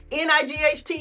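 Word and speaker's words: knight: Now, we say night, but we still write the K and the G H because the spelling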